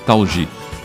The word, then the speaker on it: Thalji: Hoje estamos recebendo aqui nos estúdios da Rádio Mundial Sabah Talji, que é descendente de palestinos, né? Descendente de palestinos. Sabah Ahmad Hassan Talji. Talji, isso. É bom que você me corrija porque você sabe a pronúncia correta.